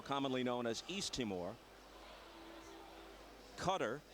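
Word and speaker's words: Qatar: known as East timore cutter pronounced that way despite the spelling and Rwanda where the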